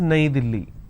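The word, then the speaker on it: नई दिल्ली: is a capital City in Hindi New Delhi is pronounced as naidili right in English the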